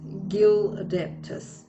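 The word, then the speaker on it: Gyhldeptis: Okay, so I just got the Goddess Oracle booklet out because it has, it shows you how to pronounce the name. So the name is Gildaptis, yes.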